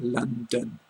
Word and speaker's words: London: The example I've got there is London, which written phonetically is L-U-N-D-U-N, because we pronounce it London, which is different from how it's written, as you can see that example.